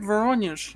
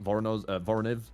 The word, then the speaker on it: Voronezh: Yeah, even if, you know, they did take Voronezh, is that how you say it? Voronezh.